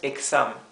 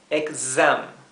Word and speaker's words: exam: Z el zumbido exam la x en inglés siempre se pronuncia así en vez de ser una s suave es una s zumbada así bien next year